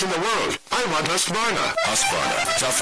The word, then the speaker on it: Husqvarna: So I teach you now how to say Husqvarna. You say husk like corn and varn like varnish without the ish, and nah like nah.